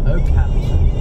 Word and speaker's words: Okehampton: How do you pronounce that? Okehampton.